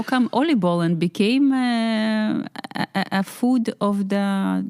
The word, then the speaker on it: oliebollen: How do you pronounce it? Oliebollen. Yeah, I think oliebollen.